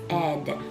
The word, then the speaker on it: said: A and I make the E sound in this word. So if I was trying to think about the word said, I might spell it like this, said.